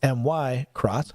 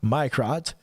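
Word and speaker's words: Mirco: checking out the microt m i r c o pronounced my y crot my crot our newest knife called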